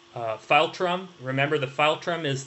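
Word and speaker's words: philtrum: that amount of space smaller teeth a nun pronounced file Trump remember the file trim is that space in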